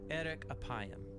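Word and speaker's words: אֶרֶךְ אַפַּיִם: In Hebrew, the phrase slow to anger is pronounced eric apayam or literally long of nose.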